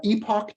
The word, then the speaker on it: Epoch: was seen this is this is uh Epoch time or uh uh Epoch time okay or epic time depending on how you pronounce it so it's just a